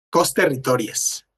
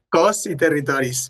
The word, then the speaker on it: Cos i Territòries: Costerritories se pronuncia en catalán, ¿verdad, Nuria? Cos y territories. Cos y territoris.